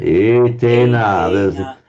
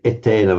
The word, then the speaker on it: etena: etena. The phonetics of English would want us to say etena, but etena. Yeah, okay.